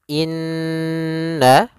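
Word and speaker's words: إنّ: Maka cara membacanya yaitu kita menahan suara nunnya. Suara nun kita tahan dulu baru dibaca. Jangan langsung innalladzi, tapi tahan dulu 2 ketukan.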